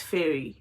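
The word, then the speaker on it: Feyre: I think it's Fairy, because it's spelled F-E-Y-R-E.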